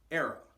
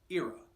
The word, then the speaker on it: era: The term for number 4 is era, or sometimes pronounced era, depending on your language and dialect of choice. It's both about the same.